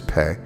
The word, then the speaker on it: Pe: his work the 17th hebrew letter is pay you spell it p e with an e and a grave but you sound it with fe and the symbol is